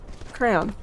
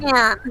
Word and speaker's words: crayon: The emphasis on the on. Crayon. On is the emphasis. Crayon. Crown. Like rayon. Or nylon.